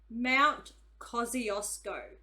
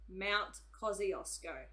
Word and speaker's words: Kosciuszko: me talking all over things and bold okay Mount Kosciuszko that's how you pronounce it Mount Kosciuszko yes in Australia way flat but it also